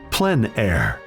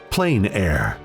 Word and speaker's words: plein air: The French pronounce it Plein Air. Others say Plein Air.